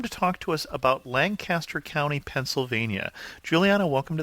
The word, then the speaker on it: Lancaster: tell people that I'm from Lancaster which is pronounced Lancaster not Lancaster sorry that's a little thing that lancasters have